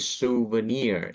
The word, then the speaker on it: souvenir: this shop all right they say the word souvenir on the third syllable souvenir souvenir souvenir okay